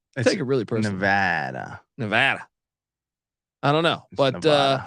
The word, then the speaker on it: Nevada: uh Nevada preview but he says locals pronounce it Nevada Nevada and you know what